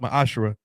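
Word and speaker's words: מעשר: Malachi 38-10 means 10th in the Hebrew it's pronounced my ashra 10% of every penny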